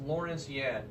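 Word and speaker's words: Lawrence Yun: Lawrence Yen, I believe his name's pronounced Lawrence Yen, of the National Association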